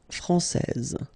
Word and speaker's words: française: main rule, elle est française. Okay, so français here, you get this final S that you don't pronounce, so français, and then when you put this final E here, you will get française.